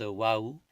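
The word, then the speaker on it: واو: d'encre noire leurs larmes la lettre whaou qui s'écrit whw qui se prononce whaou est en fait la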